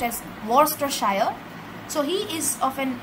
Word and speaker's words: Worcestershire: it is spelled as war sister shire but pronounced as worstershire so he is of an uh of a